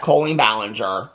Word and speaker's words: Colleen Ballinger: been made about Colleen Ballinger we know that Colleen Ballinger is how it's it is pronounced so that's the one positive that came